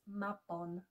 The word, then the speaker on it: Mabon: Call it Mabon if you want, just please pronounce Mabon correctly.